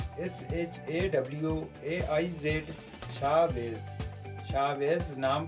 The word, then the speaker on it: Shawaiz: Chavez नाम का spelling है SHAWAIZ, शावेज़।